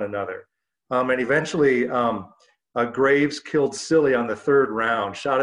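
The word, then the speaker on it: Cilley: The member from Maine, his name was spelled C-I-L-L-E-Y, which I think is pronounced Silly, not a great name for a politician.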